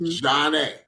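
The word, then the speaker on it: Zhané: Pronounced Zhane.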